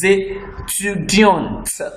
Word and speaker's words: étudiante: She will say, je suis étudiante. We'll call the last T. Now, this E is making the last T of étudiant to be pronounced.